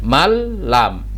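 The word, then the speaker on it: مَن لَم: dengung Contohnya seperti ini ditulisnya Man lam tapi dibacanya jadi malam ditulisnya Min rabbihim disini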